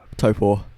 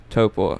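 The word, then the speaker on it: Taupō: Give me the proper pronunciation. Taupo. Taupo.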